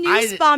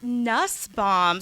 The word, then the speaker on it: Nusbaum: wanna I know and it's even nice Bob not Nussbaum so you would the